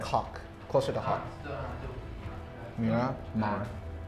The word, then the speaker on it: Miramar: Miramar. Like almost like Myanmar, but not.